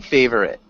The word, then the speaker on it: favorite: mmm almost hey Brit two syllables hey pretty good favorite pretty close whenever you say it quickly it kind of pops back in so we don't want that oh so pretend the oh doesn't exist but good ok Julio